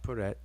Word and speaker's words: Peret: the season of emergence the next word is also paret pronounced peret transliterated the same way prt but notice that the